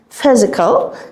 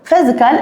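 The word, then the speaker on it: physical: بتاعها ونوعها فعل فيزيكال البي اتش هنطقها فيزيكال فيزيكال الا ال غالبا بتعمللي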